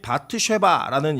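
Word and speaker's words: בת שבע: 밧세바라는 이름의 뜻이 뭐냐이 히브리어로는 발음이 바트 쉐바라는 이름인데 이것은 맹세의 딸이라는 일입니다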